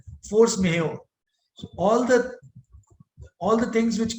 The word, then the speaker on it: force majeure: If you have seen the contracts, in contract there is a clause for force majeure, M-A-J-E-U-R-E. J is silent. It's a Mexican term. Force majeure.